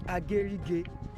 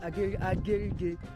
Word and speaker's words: Agirri: So I was told the pronunciation is Agirri, not Agirri in Ondo State.